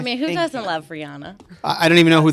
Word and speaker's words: Rihanna: That song was Don't Stop the Music, Rihanna.